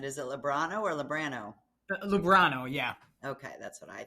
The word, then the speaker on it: Lubrano: You pronounce it. Is it Lubrano or Lubrano? Lubrano, yeah.